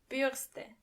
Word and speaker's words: Bürste: Burste. And remember, you don't pronounce the R as R but more like R.